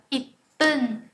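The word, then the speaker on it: 一分: Hoặc là 1 phút chúng ta sẽ đọc là ip bun, ip bun.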